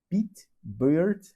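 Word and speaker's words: Pete Beard: O nome dele é Pete Bird. Gente, eu tô tentando pronunciar o melhor que eu posso, mas é como se fosse Pete Barba.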